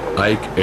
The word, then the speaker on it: Ike: Y le contesté, dicen Ike, que es como se pronuncia en español su apodo.